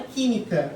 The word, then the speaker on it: química: Então, por exemplo, na própria palavra química, ó. Química. Ó, última sílaba tônica, última sílaba, penúltima sílaba, antepenúltima. Como é a antepenúltima sílaba que é a tônica, então é uma proparoxítona.